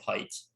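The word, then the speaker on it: Haidt: the coddling of the american mind by jonathan heights jonathan height yeah his name is spelled h-a-i-d-t ah okay cool uh that should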